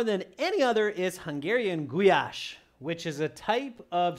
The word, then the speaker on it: goulash: It's actually pronounced goulash for those of you who want to know.